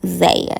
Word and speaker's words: Zaya: and gender of his trans daughter said zaya zaya yeah that's how you say it yes i'm